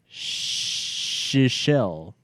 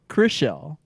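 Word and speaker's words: Chrishell: The new girl is Shishelle. Close. she's not the country of Seychelles. Sounds like an Ace Ventura type of pronunciation. What's her name? Chrisella. Chriselle. Chriselle. Like Chris with a shell.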